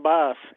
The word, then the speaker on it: Bas: boss and I thought it was bass so I said bass and he was like no it's boss I was like oh I was right I um because of Russian you know the way pronounce that's usually the way they say it in in Russia is boss but I thought it